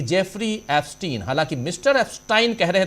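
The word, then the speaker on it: Epstein: एफस्टाइन कह रहे थे वो ओरिजिनली नाम उच्चारण भी एस्टाइन ही करना चाहिए लेकिनकि अपने यहां एस्टीन एस्टीिन कहा जा रहा है तो मैं भी वही कह रहा हूं तो जेफरी एस्टीन हरदीप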